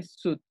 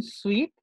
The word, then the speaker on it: suit: Cuando hablemos de ropa, traje, el traje completo se llama, se pronuncia suit, como si la I no estuviera, suit.